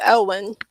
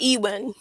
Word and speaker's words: Eweyn: Elwin is spelled Eweyn. We went into that. It's just pronounced Elwin, not Ewin or Ewin. It's just pronounced Elwin, but it's written Eweyn.